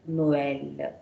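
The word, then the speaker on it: Noël: Means you have to read the pronounce O and as well pronounce E. So how do I pronounce it? No, O L, Noel. I read the sound, the pronunciation is clearly distinguished here.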